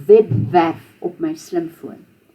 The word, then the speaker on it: webwerf: W is pronounced V. Except if it comes after an S or a T, something like that, then it would be tw or sw. But if it's the beginning of the word or the beginning of the syllable, it's a V.